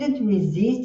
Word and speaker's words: resist: risks losing all her money sitation põe no gerot é que é arriscar resist could resist e the desert que é o resistir o stress tá na segunda, então é resist também se o objeto